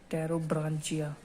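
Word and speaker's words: Pterobranchia: और एक आ जाती है हमारी, इसमें भी पी साइलेंट है, टेरोब्रांचिया, ठीक है।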